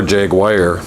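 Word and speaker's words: Jagwire: word but they do or Jag Wire out of Jaguar I understand the British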